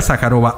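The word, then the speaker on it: Zajárova: de facto directo al conflicto con Rusia María sacarova así se pronuncia en las últimas horas suministrar que misiles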